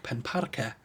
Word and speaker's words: Penparce: reflect the local dialect, with forms like Pen Parcae, which reflects the North Ceredigion pronunciation of the I plural suffix.